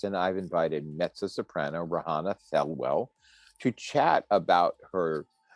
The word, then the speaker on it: Rehanna: the kimmel center good afternoon how are you rohana so nice to meet you i'm good it's actually pronounced rihanna you know one of the things i'm supposed to ask before i start this but rihanna yes thank you i apologize absolutely okay so